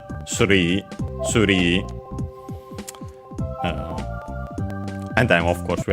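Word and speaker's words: スリー: Yeah, the accent is on the ri as expected. Suri.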